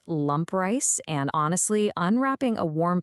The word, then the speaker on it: lampreis: The subject of our mystery today is lampreis. It's pronounced lump rice, and honestly, unwrapping a